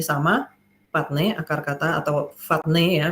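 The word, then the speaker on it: φάτνη: g5336 ya ini sama ne akar kata atau fatne ya bacanya nah ini eh bicara tentang Stol ya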